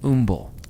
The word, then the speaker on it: umbles: It was ooble spelled with a U.